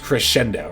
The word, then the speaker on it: Crescendo: I think it is actually pronounced Crescendo, right?